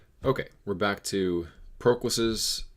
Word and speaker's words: Proclus: Okay, we're back to Proclus's. I need to pronounce it Proclus from now on.